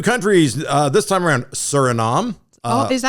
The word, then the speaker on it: Suriname: Surinom. Uh oh, is that how you say it? Surinom. Yeah, top of South America. I was calling it Suriname.